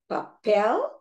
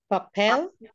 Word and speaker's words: papel: They both have 3 syllables and the stress is on the last syllable. So we have the papel, animal, natural.